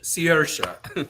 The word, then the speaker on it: Saoirse: And and I still don't know how to pronounce it correctly after hearing it a million times. Saoirse. He says Saoirse.